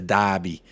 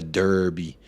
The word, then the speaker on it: derby: for the watch long it's a Dobby not a derby it's a North London